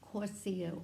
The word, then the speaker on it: Korchia: Now she sees the name Korchia, but it's pronounced Korssia also.